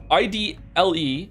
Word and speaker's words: idle: Aren't those two words pronounced exactly the same? IDLE, like idle, like you're idling, or like you're being idle, you're not doing anything. And then it's like idle, IDOL, like you're an idol, people idolize you, they adore you.